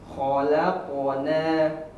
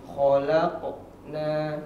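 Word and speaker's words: خَلَقْنَا: Nah, kesalahan yang sering terjadi pada huruf qalqalah itu pada hurufnya ada jeda. Jadi bacanya khalaqona. Nah, harusnya bersambung. Khalaqona seperti itu ya.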